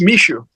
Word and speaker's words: Michou: My name is pronounced Mishu.